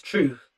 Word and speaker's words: TRVTH: So this is off his latest album, which was a split with another producer named Truth, TRVTH. That's how it's spelled.